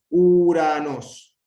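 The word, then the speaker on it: Οὐρανός: El diptongo U, que se pronuncia como U castellana. Uranos, uranos.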